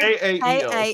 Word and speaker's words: Kael: KAEL. Kael. I did specifically say that it is E- pronounced like Oh. kale, the vegetable.